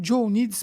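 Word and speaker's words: Jo Nijs: Eu falo Joe NIDS porque aí todo mundo vai entender. Ele é belga, a pronúncia é completamente diferente disso aqui que eu tô falando, né? Mas aí é J-O espaço N-I-J-S.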